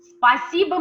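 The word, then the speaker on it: спасибо: already can read it spa siba spasibo means thank you look at the letters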